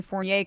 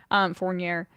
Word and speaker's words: Fournier: Finally, move that Evan Fournier contract, see who they can take on. Fournier. I said it right the first time.